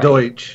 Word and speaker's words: Deutsch: Deutsch. Yes. Deutsch. Deutsch. Yeah. Well, anyway. Yeah, and when you're speaking it, it kind of sounds like Dutch.